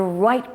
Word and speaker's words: Wright: Finally, at the beginning of the 20th century, the Wright brothers conquered the air. That's Wright with a silent W.